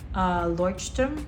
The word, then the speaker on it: Leuchtturm: Then we also have a Leuchtturm, that's how you pronounce it.